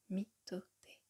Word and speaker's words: mitote: Votre esprit tout entier est un brouillard que les Toltèques appellent un mitote, prononcé mitoté.